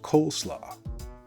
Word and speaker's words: coleslaw: fact of the day coleslaw actually comes from the dutch words cool meaning cabbage and slaw meaning salad makes sense in american english that later became pronounced coleslaw but without any cabbage